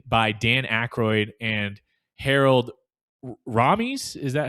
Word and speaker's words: Ramis: The film was written by Dan Akroyd and Harold Ramies. Is that how you say it? Ramos. Ramis and that they are the ones who play